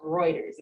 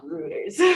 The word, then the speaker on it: Reuters: And what I did primarily when I was with, it's pronounced Reuters, not Reuters, but when I was with Reuters, that's okay.